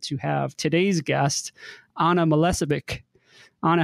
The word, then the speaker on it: Milicevic: I'm very excited to have today's guest Anna Melissa Vic Anna how did I do in pronouncing your name you did very well Adam